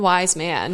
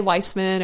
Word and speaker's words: Wiseman: I always have to say like one wise man when people ask how to spell it, because a lot of people say Weissman or they say whatever. Wise man. So it's literally a singular wise man.